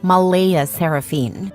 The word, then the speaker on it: Mleighaseranphynnne: Claire insists it's pronounced Malaya Seraphine, but she's adamant about keeping the creative spelling because normal names are boring and my daughter deserves to stand out.